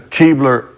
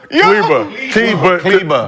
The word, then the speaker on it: Kleber: Yeah, but I'm just saying this is because the reason is Keebler. So because he had elf. Yes. Again. Kilber. Isn't it Kilber? Kleber.